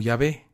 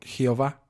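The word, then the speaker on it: Yahvé: y h w h que acabaría pronunciándose como ya ve aunque una mala traducción alemana diera como resultado hace siglos la pronunciación jehova toda palabra hoy día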